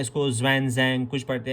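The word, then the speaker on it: Xuanzang: पढ़ते हैं श्वेनसेंग, इसको कुछ पढ़ते हैं। तो किसी भी तरीके से आप इसको याद रखो, ज़्वेनज़ैंग रखो, श्वेनसेंग रखो। एक्चुअली में जो इसको प्रोनाउंस किया जाता है वो है श्वेनसेंग।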